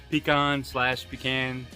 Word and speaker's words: pecan: Okay, today we're going to be using pecan/pecan, depending on where you're from and how you say it, wood.